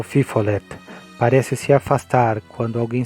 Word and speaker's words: fifolet: Na Louisiana, onde é mais famoso, é chamado de fifolet. pronunciado fifolei.